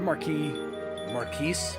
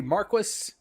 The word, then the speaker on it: Marquis: I thought you slain Marquis, but evidently Marquis and Marquee are both proper pronunciations for that word.